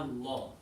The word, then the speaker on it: Allah: it, what happens to Allah? What happens to the lam in Allah? It becomes light.